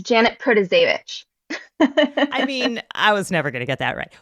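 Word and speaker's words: Protasiewicz: just say judge Janet uh but it's Janet pravit I mean I was never going to get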